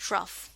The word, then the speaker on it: trough: और जो ये नीचे वाला पार्ट होता है ना, इसको हम कहते हैं ट्रफ, TROUGH, ठीक है। तो ये इसकी स्पेलिंग होती है, इसको थोड़ा सा हम इसकी ट्रफ की स्पेलिंग जरा ठीक करेंगे, ठीक है, TROUGH, ठीक है।